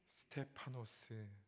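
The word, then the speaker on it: Στέφανος: 죄를 그들에게 돌리지 마옵소서 이말을 하고 자니라 아멘 스테파노스 스데반의 하 라오의 발음입니다 고난과 핍박이 당연한 상황 속에서도 자신의 안이와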